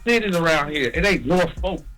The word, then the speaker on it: Norfolk: Not only that, but you got to learn how to pronounce the cities around here. It ain't Norfolk, it's Norfolk.